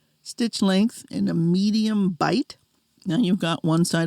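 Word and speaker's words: bight: Now you've got what is called the bite and that's spelled b i g ht.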